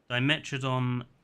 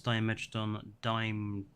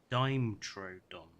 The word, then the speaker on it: Dimetrodon: For some reason I pronounce Dimetrodon Dimetrodon. That's a very weird way of saying it, I will admit.